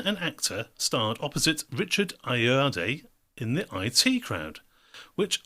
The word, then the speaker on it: Ayoade: which irish comedian and actor starred opposite richard ayodee in the i.t crowd which irish comedian and actor starred opposite richard ayo ayoade in the it crowd tricky one for pronunciation there but again 20 seconds on the